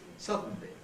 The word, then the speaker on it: suddenly: pronounce it Sub sub but how many syllables does it have suddenly not two it has three suddenly suddenly how can that be